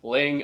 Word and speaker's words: Laing: The right way to pronounce it, I've been pronouncing it Lang for so many years, and Fred Laing on one of the Douglas Laing Facebook groups corrected me on how to pronounce it. So it is Laing and not Lang.